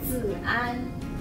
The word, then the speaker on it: Zian: Z-an. Z-an? Yes. So you don't pronounce the I at all? No, the Z-I sounds like Z.